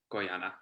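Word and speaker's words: quyana: have to write that down q-u-y-n-a-a-y-a-n-a q-wanna kiwana koyana yeah koyana koi yeah that's guyana i love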